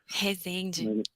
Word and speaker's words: Resende: We have EarthFlow interview today with Resende or how do you say it, from Brazil. Resende.